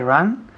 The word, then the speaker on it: run: I run where she runs. Good. Con la U, que pronuncia muy bien. I run where she runs. Run, no ran. Run. Es un poco cerrado. Tienes la boca cerrada.